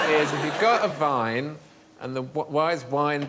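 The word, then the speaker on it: Wein: to say Vine but the Germans say Vine and spell it with the w ah so why is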